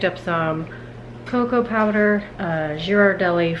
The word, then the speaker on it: Ghirardelli: Uh, Jirardelli for me. How do you say it? Ghirardelli. I say Jirardelli because I'm like, what the word?